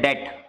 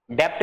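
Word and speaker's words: debt: government loan लेती है उसको बोलते है डेट डेप्ट नहीं बोलते इसको बी जो है साइलेंट है य पर तो पब्लिक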